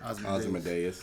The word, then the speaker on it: Ozymandias: It wasn't a big giant squid that how you pronounce his name? Ozymandias.